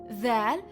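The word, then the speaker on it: ذال: Dhal sounds like the combination TH, as in that.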